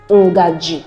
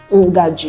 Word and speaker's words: ngaji: All right, then you have letter N as a syllabic nasal. It's pronounced as sound, as in the English word turn around. The N as turn. So we have it in Igbo words like ngaji, spoon, ngaji.